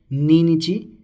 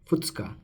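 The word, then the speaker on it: ふつか: So again this is not ninichi, but it is futsuka.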